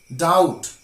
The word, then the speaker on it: doubt: of silent letter B B is often silent when it is before T I repeat B is often silent where it is before T let's have a few examples that doubt better subtle subtle not